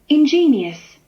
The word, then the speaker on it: ingenious: 발음을 한번 들어보시면 ingenious, ingenious 이렇게 발음을 하는 것이고, ingenuous, 오른쪽에 있는 ingenuous는 ingenuous, 다시 ingenuous, ingenuous 이렇게 발음을 하는 거예요.